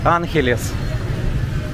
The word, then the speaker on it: Angeles: Because Angeles City also Filipino people say Angeles.